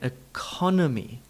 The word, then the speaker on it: economy: It's only possible to stress the syllable by reducing down those other vowel sounds. The stress syllable has the full vowel sound, economy, economy, economy, economy.